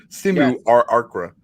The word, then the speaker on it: simulacra: Do I pronounce this L or is it simulacra? Simulacra. No, you say those L's.